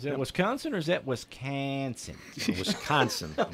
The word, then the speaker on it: Wisconsin: Is that Wisconsin or is that Wisconsin? Wisconsin. It's the second syllable that gets that accent.